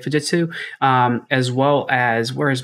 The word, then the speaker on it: Fujitsu: Let's go back to that original one, because on here, you're going to see things like, you know, Fujitsu. Yeah, that's how you say it, Fujitsu, as well as, where is my other one?